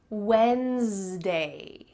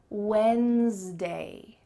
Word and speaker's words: Wednesday: Nope, that D is silent. Cut it out, forget about it. It's Wednesday. There's almost a Z sound in the middle of this word. Wednesday, Wednesday.